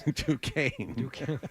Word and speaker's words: Duquesne: Duquesne. Yeah, I don't know how that's Duquesne. That's like Chade. It looks like Duquesne, but it's Duquesne.